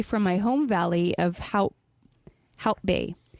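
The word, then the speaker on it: Hout Bay: my home valley of how help bay different variations on how to pronounce it Africans is haut but generally it is how help means wood after the forest that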